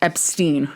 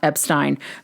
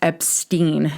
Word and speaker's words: Epstein: So Brian's last name is pronounced Epstein, not Epstein. Publicly, as in the press, particularly in the US, Brian's last name was pronounced as Epstein due to understanding that to be the more common American pronunciation.